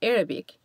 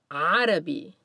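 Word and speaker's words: عربي: with a superscript c listen to the ah in the word for the language arabi practice pronouncing the sound ah with the word arabi after me ah arabi the letters gh will represent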